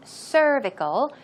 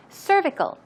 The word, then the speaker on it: cervical: So cervical pronunciation, there's a stress right there on cervical, cervical.